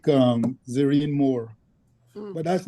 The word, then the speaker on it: Zerene: It's called Zerine. All right. And your audio is a little muffled, Tony. Can you spell that for us? Zerene. Verene. Z as in Zorro. Z as in Zorro. Zerene.